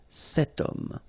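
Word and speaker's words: cette: it's masculine but still setum so now feminine word fam woman no problem about that because we've got only one option for this at the feminine form and it's set written like that set same thing here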